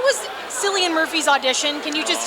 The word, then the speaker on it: Cillian: He's called, nobody knows how to pronounce his name, it's Cillian.